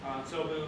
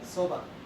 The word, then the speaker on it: soba: Sobu. Did I say it right? There's a noodle that's really cheap. It's actually pretty good. Soba. Soba. That's it. Soba.